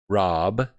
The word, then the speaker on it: Raab: Fred Raab, that's spelled R-A-A-B, Rob.